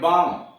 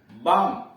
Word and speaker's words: balm: उच्चारण ल होगा, लेकिन कुछ ऐसे शब्द हैं जहां यल साइलेंट हो जाता है, यल का उच्चारण होता ही नहीं है उस शब्दों में। जैसे BALM पढ़ते हैं बाम, BALM बाम। मरहम, CALF काफ, यल साइलेंट है, काफ पढ़ते हैं काफ।